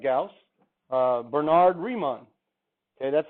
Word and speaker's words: Riemann: This guy is a German, just like Gauss, Bernard Riemann. Okay, that's how you pronounce it. That's the German spelling, Riemann. That's how you pronounce it.